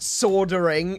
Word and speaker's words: soldering: It's not soldering. It's soldering. There's an L in it. Pronounce the L.